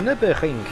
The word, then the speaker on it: Nürburgring: The Nürburgring.